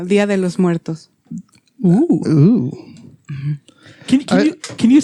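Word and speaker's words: Día de los Muertos: Did I say that right? You did not. You're so cute. Okay. I'm super white and I knew that was wrong. Okay, how do you say it? Yeah, Dia de los Muertos.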